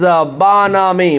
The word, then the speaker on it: bonhomie: तो चलिए आज का पहला word And first word of this show that is banami. Banami BONHOMIE. यहाँ पे H साइलेंट है, ए के आगे दो